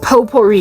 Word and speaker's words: potpourri: act of fragrancing with potpourri your whole bathroom. Like, make it cute. Anyway, whatever. Yeah, potpourri. Okay, listen, the silent T over there is like the power of God.